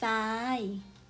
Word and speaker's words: ทราย: อ่าน ออก เสียง จะ เปลี่ยน เสียง อ่าน จาก เสียง อักษร ควบ ทร ไป เป็น เสียง ซอ นั้น เอง ค่า า ตัว อักษร